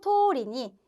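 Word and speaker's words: 通り: 자, 아까 요 도리, 명사 뒤에 바로 접속하는 경우 도리, 노가 들어가면 토리라고 발음한다고 이야기 드렸었죠. 자, 그래서 잡지대로 자시노 토리니 요리をしてみると 요리를 해봤더니 토 뭐뭐 해봤더니죠.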